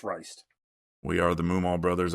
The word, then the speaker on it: Reist: how you pronounce that thing. Reist.